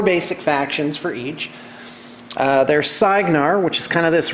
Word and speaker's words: Cygnar: In fact, let me give you the proper pronouncements. It's Cygnar, Cawdor, Crix, give you more details here in a minute, Crix, Menoth.